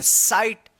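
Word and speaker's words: sight: हम लोग यह भी सीखे थे कि आई के बाद अगर जी एच रहता है जी एच तो इस जी एच का उच्चारण नहीं होता है। साइलेंट रहता है जी एच और इस आई का क्या उच्चारण होगा? आई उच्चारण होगा। जैसे इसको पढ़ेंगे साइट।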